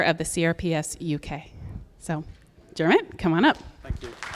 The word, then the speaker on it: Diarmuid: So if you think of Kermit and just take away the K and put in a J, that's kind of how you say my name, okay? So Diarmuid, yeah.